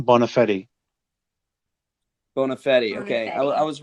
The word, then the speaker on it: Bonafede: My last name, Bonafede.